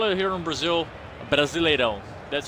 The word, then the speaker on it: Brasileirão: But like a big thing, like, you know, big Brazil, Brasileirão.